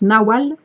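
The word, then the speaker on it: Nagual: grands initiés demeurent les Nawal N a g u a l mais là eux il prononce Nawal héritier du peuple toltec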